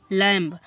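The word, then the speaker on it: lamb: कंघा अब इसी तरीके से लमब देखो एल ए एम बी लम लम देखो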